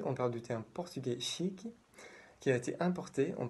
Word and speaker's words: chique: Alors, aujourd'hui, on parle du terme portugais chic qui a été importé en portugais du français. Chic est prononcé presque de la même manière qu'en français, mais avec un petit i à la fin.